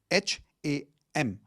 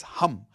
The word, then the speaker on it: Ham: H a m. It's not ham. Okay. It's hum like how you would say h u m.